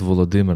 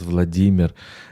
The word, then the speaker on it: Volodymyr: that, look, most probably the Prince Volodymyr of Kiev was called Volodymyr, not Vladimir, as in Russia. And if you look at the Russian language, the way how the diminutive name from Volodymyr is pronounced, even in